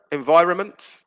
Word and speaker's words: environment: films by the way silent letter environment that's another one isn't it environment similar to government where you've got the n before the m disappears so that was another